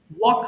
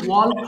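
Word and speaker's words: walk: ওয়াক হাঁটা, ওয়াক ওয়াকড ওয়াকড। Microphone of করে বলবেন। হ্যাঁ, এটা কিন্তু ওয়াল্ক হবে না, এল এর উচ্চারণ আমরা করব না, এটা সাইলেন্ট লেটার।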